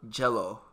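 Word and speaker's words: Gelo: And Jello. G-E-L-O. Yeah. Wait, Jello? Yeah. Like J-E-L-L? G-E-L-O. No, but I mean like pronunciation. Yeah, pretty much.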